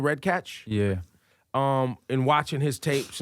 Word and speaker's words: Redkach: Redkach?